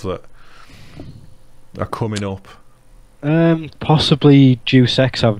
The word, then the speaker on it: Deus Ex: Possibly Deus Ex. I've not really looked into too much. I'm glad that someone has said Deus Ex. Or Deus Ex, whatever. Deus. I used to say juice all the time, and Lou laughed at me